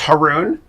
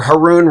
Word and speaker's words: Haroun: My last name is Haroun, not heroin. Just remember, Haroun rhymes with baboon.